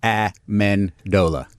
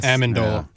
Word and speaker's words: Amendola: How do you pronounce Danny's name? Amendola. Amen. I thought Aandola tomato tomato.